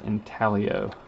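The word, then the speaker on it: intaglio: does say italia so i guess maybe the g is silent all right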